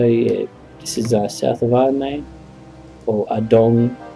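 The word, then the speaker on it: Ardougne: Okay, so yeah, this is south of Arnay, or Adong. I've heard it, people with Jagex say Adong, but I prefer Arnay. It sounds better. It may not be the right pronunciation, but Adong sounds just stupid.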